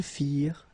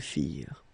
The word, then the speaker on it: firent: Remember, ending ENT for the plural, you don't pronounce it.